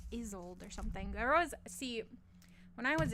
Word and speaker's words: Isolde: Pronounce? Not that it matters, clearly. Oh, Isolde? Isolde.